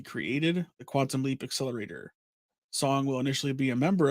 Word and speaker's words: Song: The character is Dr. Ben Song, I think is how it's pronounced, Song.